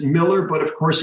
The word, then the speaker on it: Mueller: in Wisconsin so I we pronounce it Miller but of course it's